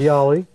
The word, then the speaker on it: Ghadiali: I think I pronounced that correctly. Yes. Ghadiali.